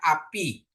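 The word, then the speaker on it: אבי: bet dikasih hirik Yod ya huruf senyap Al dengan konsonan a karena ada kamat ya ditambah Pi jadi bacanya api artinya ayahku ya bapakku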